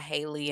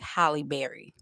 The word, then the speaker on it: Holly: her name because um people will butcher her name. They'll call her Haley and all this other stuff. So, I have to remember that it's like Holly Berry, you know, Holly Berry.